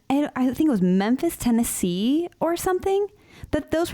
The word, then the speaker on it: Memphis: my daughter Ali is convinced that Memphis is pronounced Memphis it's Memphis oh and I don't have the heart oh